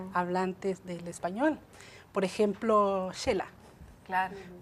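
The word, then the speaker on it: Xela: Por ejemplo, Shela. Claro. Vamos a Shela y escribimos Shela con X. Ahí estamos usando el sonido de la X como SH.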